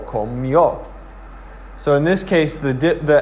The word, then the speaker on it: comió: And so you're going to say comí, and then you accent the O, comió.